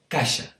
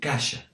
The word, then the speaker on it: caixa: a word like coix, in Spanish, cojo, or caixa, in Spanish, caja. Around Barcelona, these words are pronounced basically the way that I just pronounced them, because that's where I learned Catalan. So, coix and caixa.